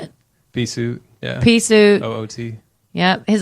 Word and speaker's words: Peaceoot: Peaceoot.